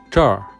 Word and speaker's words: 这儿: The word 这 can be equal to 这里 But according to their speaking habits, northerners, especially the locals from Beijing, prefer to use the R sound at the end. Listen again. 这儿这儿 Now I will